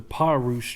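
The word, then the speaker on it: Pa'rus: After much research, we learned that the proper pronunciation for this trail is the Pa Rouge Trail.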